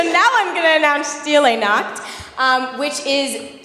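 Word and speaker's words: Stille Nacht: thanks dog so now I'm going to announce steel a knot which is silent night in German a couple years ago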